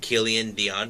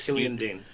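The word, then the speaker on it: Killian Dain: for the NXT title between Matt Riddle and Killian Dion, if I pronounce it right. But Matt Riddle won the match. Dane. And of course, Killian Dane.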